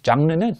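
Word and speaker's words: genre: 그 다음에 장르는 이거 발음이 영어식이 아니잖아요. 프랑스식이잖아요. 장르는 이거 장르예요.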